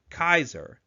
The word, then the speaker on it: Caesar: sea and Romance languages began to soften so slowly Kaiser became Caesar however the memory of how the name was pronounced is kept alive in